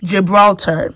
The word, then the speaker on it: Gibraltar: this little patch that says jibitar or Hirata as the Spanish pronounce it because the G is pronounced as a h y'all I am still pronouncing the English way with the Spanish accent to pronounce it in English it's Gibraltar Gibraltar so I have this